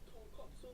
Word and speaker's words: tonkatsu: So tonkatsu ramen makes sense. It's pork bone ramen. But katsu mean cutlet. So tonkatsu means fried piece of pork. That's completely different thing. Say it properly. Tonkatsu. At least Nick is trying,